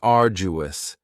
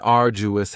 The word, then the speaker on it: arduous: Next is arduous, and arduous has 3 syllables, and the stress is on the first syllable, arduous. Now you don't hear that D sound that much. It's not very strong. It almost sounds a little like a J. Arduous, arduous. Something that is arduous is